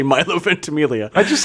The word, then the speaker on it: Ventimiglia: chewing the scenery, and then you got Milo Vermentiglia in it. Is that how you say his name? No. How do you say his name? Milo Ventimiglia.